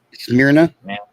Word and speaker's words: Smyrna: Smyrna?